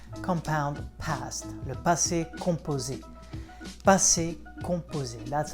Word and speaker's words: passé composé: Passé composé, that's how you say it in French, le passé composé.